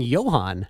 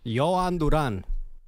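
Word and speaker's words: Jhoan Duran: And we can hear the way Manny sing and you keep saying Yan. Yoan Duran.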